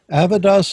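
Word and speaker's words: Avidis: That's almost how I've got it exactly, except that second A is an I in Avidas, and Bor has an E between the R and S. You have to pronounce it without those, though.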